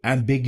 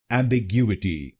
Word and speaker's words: Ambiguity: ty, tt will become emgu emgu em be goo at m be goo at emgu emgu and here you have to put stress on the third syllable i.e.